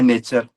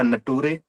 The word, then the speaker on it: nature: पढ़ा रहा था, और उसने ब्लैक बोर्ड पे एक स्पेलिंग लिखी, NATURE। आप सब पढ़ते हैं नेचर, तो उसने ये नेचर की स्पेलिंग लिखी, फिर आगे इसका उच्चारण लिखा नटूरे, और बच्चों को बता